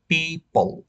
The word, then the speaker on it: people: আল্লাহর ওয়াস্তে আপনার এর উচ্চারণটা ফিফল করবেন না। এটার উচ্চারণ করার সময় আপনি দুই ঠোঁট বন্ধ রাখবেন। পিপল।